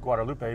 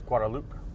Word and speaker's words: Guadeloupe: Some people might think it's pronounced Guadalupe, but it's Guadeloupe.